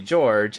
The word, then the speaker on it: Jorge: And so I asked, and he says, so most everyone calls me George, except my husband and my close family calls me Jorge.